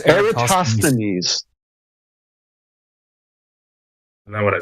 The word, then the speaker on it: Eratosthenes: No, it's Eratosthenes.